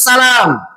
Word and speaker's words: Salam: Kata Imam Bukhari, haddatsana Muhammad ibnu Salam. Muhammad ibnu Salam bitakhfifil lam. Lamnya ditakhfif. Jangan antum baca Muhammad bin Salam, tapi bacanya Muhammad ibnu Salam. Yang sahih bacanya ditakhfif.